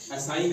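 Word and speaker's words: assign: है तो साइलेंट रहेगा असाइन है एड एस आईजी ए तो एन से पहले जी है तो साइलेंट रहेगा ऐसे ही रेन में भी ए से पहले जी है तो साइलेंट गा ठीक है उसके बाद हमारे पास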